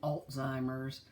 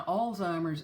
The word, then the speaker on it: Alzheimer's: of mine people saying Alzheimer's our Alzheimer's putting a T in that in that word if you'll notice in this word there is no T absolutely no T it is a German